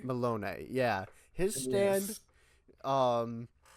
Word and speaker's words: Melone: I'm trying to remember how you pronounce it. Malone? Malone, yeah.